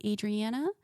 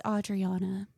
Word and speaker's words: Audriana: people call me Adriana some people call me Adriana it's Audriana and I tell people and it's okay like I'm used to it but it's okay to correct people sometimes um I always say my name is like Audrey like Audrey heern okay so like Audrey and then La the second half would be Anna like Anna from Frozen so put it together